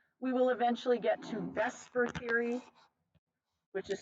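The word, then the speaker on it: VSEPR: the 3D structure we will eventually get to Vesper Theory which is spelled the supper but pronounced Vesper which stands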